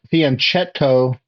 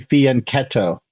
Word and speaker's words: fianchetto: And I looked that up from an Italian speaker, and there's no, that CH sounds like a k sound in Italian. So it's not fianchetto, it's actually fianchetto.